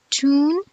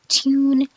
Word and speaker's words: tune: degree in New England, we see a y after the first consonant in these words. We pronounce it as tune, nude, dune, news, and lute. And in the expected opposite of BE is the A pronunciations, we pronounce these words without a y. So it's just tune, nude, dune, news, and lute.